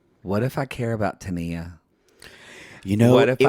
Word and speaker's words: Tania: We pronounce it Tania, so that's who we're talking about. Yeah. I don't know who Tanya is. Don't know. Still on that tell-all, when Sean Robinson goes, Tanya, I'm like, who?